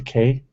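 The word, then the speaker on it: cay: key it depends because Key West is spelled ke y right but a lot of them are spelled c a y but still say k sometimes or key having been down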